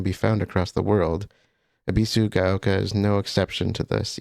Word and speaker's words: Ebisugaoka: in And I I I know how to pronounce it now. I I got it partially correct. I was saying Abbyu Gayoka, it's Abbyu Abisu Gaoka.